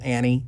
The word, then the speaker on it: ANNIE: it's a program that's called an e or pronounced Annie it's short for analytical